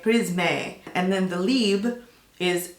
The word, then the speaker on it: Prisme: or do you say Prism? Well, in English it's Prism, right? But it's French. So I think in French they say Prisme, and then the Libre is Libre.